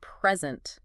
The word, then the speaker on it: present: But if you stress the second syllable, it means to give something.